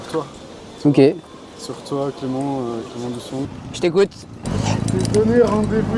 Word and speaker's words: Dusong: Eh ben, je vais dire Dussong parce que c'est écrit qu'un G à la fin.